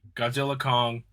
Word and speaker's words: Godzilla x Kong: Kong the new Empire apparently said by the director the x is silent it's one of the dumbest things I've ever heard I know me too apparently it's just supposed toly Godzilla Kong the new Empire yeah